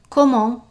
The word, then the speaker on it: comment: We're not pronouncing the T, and you can repeat after me word for word. Comment?